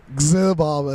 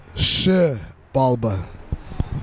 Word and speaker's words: Xibalba: So a lot of people like to say XIBALBA. It's XIBALBA.